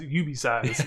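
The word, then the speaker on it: UBeesize: Not IB Size, UB Size. Yeah. UB Size is U, the letter, BEE, size, like you get a small size of something.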